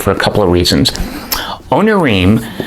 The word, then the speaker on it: Onirim: Onirim, I took some biblical Hebrew way back when. There are Hebrew words that end in im that are pronounced im.